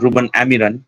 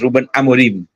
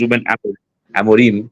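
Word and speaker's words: Ruben Amorim: to all those United fans Actually, it's not Reuben Amiran, it's Reuben Amarim. Actually, it's Ruben Amarim.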